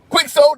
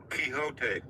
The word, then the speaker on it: Quixote: Quicksold, is that what I'm reading? Quixote. Quixote. Yes, man of La Mancha, tilting windmills.